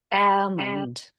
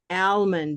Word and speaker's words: almond: How would it sound with black? Who can try it with black? With an L that you can hear. Almond. Almond, exactly. Almond.